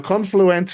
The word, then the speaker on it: Confluent: Now the the other thing that you guys need to remember is it's Confluent that they've acquired not Confluence. So Confluent is the CFKA guys. Not Confluence.